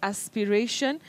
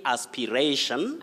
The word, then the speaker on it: aspiration: is that correct oh that word has two acceptable or if you like alternative pronunciation right you can say aspiration aspiration but you can also say aspiration aspiration or aspiration just like inspiration or inspiration inspiration that's a surprise